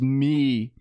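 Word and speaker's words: Mii: Anyway, they invented a a MI pronounced MI, which is a a customizable avatar used by Nintendo on the the video game consoles and mobile apps in the mobile.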